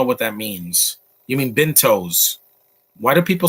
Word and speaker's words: bento: you mean what is m bunto i don't know what that means you mean bentos why do people spell that wrong it's b-i-n-t-o it's like Bingo but with a t Bento and I've been bet